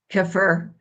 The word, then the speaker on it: Kiefer: Kiefer, Kiefer Sutherland. I've been Kefir pronouncing Sutherland.